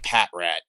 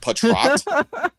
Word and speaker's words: Patrat: Him mispronouncing Pokemon names when it's English and it's not even a weird name. It's like Patrat something really easy and he's just like patroat.